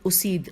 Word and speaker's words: اسید: پھر یہ خزیر بن اسید الف پہ پیش ہے، اسید کو خلافت کے